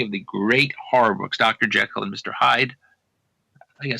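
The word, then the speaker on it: Jekyll: the Great Horror books Dr J and Mr Hyde I gu suppose I should be saying Dr gel and Mr Hyde by the way which is the proper pronunciation of the doctor's name uh you your respon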